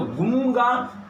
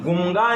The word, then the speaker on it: गूंगा: दिखता क्या है कि ये लिखा तो अनुस्वार तो गुंगा, लेकिन गुंगा इसका उच्चारण नहीं होगा। इसका उच्चारण होगा अनुस्वार के बाद ग है, अनुस्वार के बाद ग है। ग का पांचवा वर्ण क्या है? पढ़िए, क ख ग घ, जिसको हम सभी अंगा कहते हैं, और इसका उच्चारण हो जाएगा गूंगा।